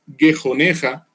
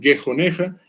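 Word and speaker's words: גְּחֹנְךָ: La expresión barriga es gejoneja, lo pronuncio en hebreo para que ustedes vayan y corroboren, lo pueden hacer en logos o en las herramientas que ustedes quieran, gejoneja, que puede ser traducido como vientre.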